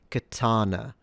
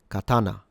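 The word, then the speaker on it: 刀: say either katana or katana. They're both incorrect. The correct pronunciation in Japanese is katana. Katana katana. So all syllables or mora are the same length. So you don't stress any of these.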